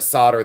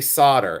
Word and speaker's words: solder: where you want to solder this together. Okay. And people say, why do you say solder? And I say, because that's the way it's pronounced in America.